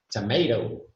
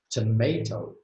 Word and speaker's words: tomato: But when they say this word, tomato, yeah, they don't even pronounce the T. It's bad enough that they say tomato, but if they put a T in there, it might make it more bearable.